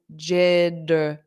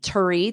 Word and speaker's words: jittery: So I pronounce this as jittery, dury. I don't say jittery, turry. That sounds unnatural to me. Jittery, jittery, j. And it's a strong J sound, jittery.